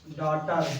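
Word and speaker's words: daughter: डॉटर, यहाँ GH silent है ना। क्या साइलेंट है? GH ठीक है।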